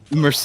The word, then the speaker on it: Merced: last name I Merced it's Merced okay that's how I was thinking it but